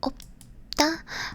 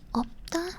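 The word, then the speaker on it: 없다: Opta. You don't pronounce the shit on this because it. You would pronounce the shit if you would say 없습니다.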